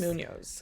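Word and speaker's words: Muñoz: I feel like reading it, Munoz? I always say it different. Munoz. I say Munoz because it has a little accent on that.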